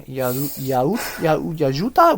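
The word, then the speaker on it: Yautja: I think that they it follows a young predator, a young Yajuta. We were talking about this. The pronunciation for the alien species of predator, Yajuta. I think they said Yajuta.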